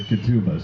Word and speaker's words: ketubah: it up and uh they've been telling me kituba katupa all right so you all know i officially right now pronounced at ketubah so if i don't don't say it right